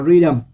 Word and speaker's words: rhythm: Câu B, các bạn đọc là rhythm. Thì âm H này không đọc luôn.